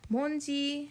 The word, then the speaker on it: 뭔지: 뭔지, instead of saying 뭐인지, it's easier to condense that down. So usually it's pronounced 뭔지, like that.